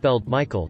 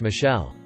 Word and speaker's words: Michael: adamant it was pronounced Michelle mom bemused said something along the lines of it's literally a name from the Bible it's pronounced Michael and has been for thousands of years the receptionist sat in